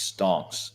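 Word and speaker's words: stonks: explain ston to me yeah it's stocks but pronounced wrong because we're stupid and we're playing into the smart money's view of us being so yeah we're it's stons not stocks that's the real meme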